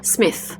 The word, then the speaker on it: Smith: On met bien sa langue entre les dents et on prononce th, Smith.